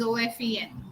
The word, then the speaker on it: often: Ma'am, in often T is silent. Right. Please. Ma'am, often T is silent. Yes, often. It is OFEN.